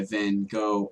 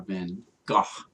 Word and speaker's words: Van Gogh: cool this painting by van gogh of irises or van gaal i think is the right way to say it one of my favorite